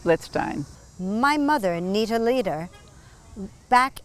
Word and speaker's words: Blitzstein: over because i said is his name mark blitzstein and you corrected me which i want to do he pronounced it let's stein my mother anita leader